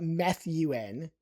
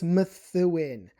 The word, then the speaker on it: Methuen: This is Methuan. I remember when I was a kid, we were driving through going on vacation. I would call it Methuen. No, it's Methuan.